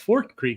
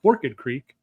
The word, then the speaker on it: Forked Creek: But that's Forked Creek. It's not Forked Creek.